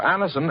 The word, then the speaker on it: Anacin: Just ask for Anacin at any drug counter. It's spelled A-N-A-C-I-N.